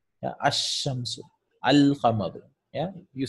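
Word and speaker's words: الشمس: It's ash-shamsu. So you see, you don't pronounce this lam.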